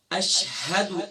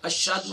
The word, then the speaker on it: اشہد: اشہد، اب اس کی ہجے کیا ہوں گی، حمزہ شین زبر اش، ہا زبر ہا، اش ہا، دال پیش دو، اشہد.